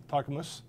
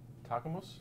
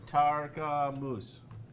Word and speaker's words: Tarkamus: I'd like to introduce you to Tarkamus. He's very particular about the pronunciation, so you should be careful.